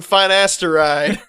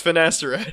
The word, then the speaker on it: finasteride: dear God and also don't pronounce it like that what it's it's finasteride oh yeah I didn't